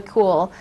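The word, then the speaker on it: Kuehl: any other written correspondence do you know Sheila cool yes I do am I pronouncing her name correctly cool so have you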